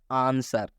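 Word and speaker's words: answer: हैं एग्जांपल जैसे में आंसर आंसर में एस के बाद डब्लू आया हुआ है इसलिए यह डब्लू साइलेंट हो चुका है आंसर का मतलब होता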